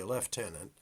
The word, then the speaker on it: lieutenant: That didn't happen because of a lieutenant, or as the British say, lieutenant, in the Grenadier Guards, who had experience driving trains, Frederick Harvey Bathurst.